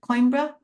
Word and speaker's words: Coimbra: the university library at, I'm not going to pronounce it, Coimbra. I don't speak Portuguese, sorry. Spell it again. Coimbra?